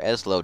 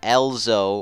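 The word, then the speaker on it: Ezlo: V it's okay oh you are eslo not ELO or whatever people call it it's asow not ELO or alzo or whatever people call it it is asow it is not that hard to pronounce and I hate when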